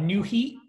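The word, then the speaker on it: Nuheat: So I got new heat. New heat is spelled N-U-H-E-A-T.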